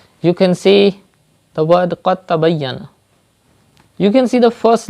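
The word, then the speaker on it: قد تبين: to pronounce dal, and you have to join qaf mutaharrik with ta mushaddad, like qad tabayyana. You will not say qad tabayyana, but you will say qad tabayyana.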